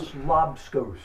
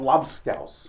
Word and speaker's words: lobscouse: That's lobscous. It's called lobscouse. We battle on the definition, on the pronunciation.